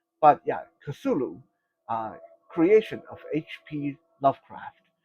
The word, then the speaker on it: Cthulhu: And Kasulu is going to need some minions.